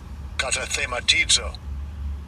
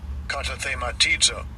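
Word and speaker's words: καταθεματίζω: And I'll give you a pronunciation of it because it's kind of a long word. Strong's G2653. Katathematizo. Katathematizo.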